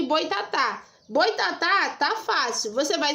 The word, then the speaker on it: boitatá: Só que no boitatá tem acento agudo. Então você já sabe que esse tá aqui, ó, é a sílaba tônica.